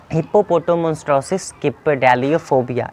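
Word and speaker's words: Hippopotomonstrosesquippedaliophobia: फिर से हिप्पोपोटामोन्स्ट्रोसिस किप्पेडालियोफोबिया, इस तरीके से प्रोनाउंस करा जाता है इसको.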